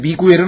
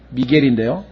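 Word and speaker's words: Miguel: 스페인어로 하면은 미구엘이라고 하는 발음이 있는데 미구엘은 아니고요. 미겔인데요.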